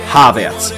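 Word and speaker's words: Havertz: et comme dans mais c'est surtout sur son nom de famille qu'il y a beaucoup d'erreurs déjà le H se prononce il est aspiré comme dans la salutation anglaise hello et non silencieux comme dans je haie les gens qui oublient de prononcer les h la surprise elle vient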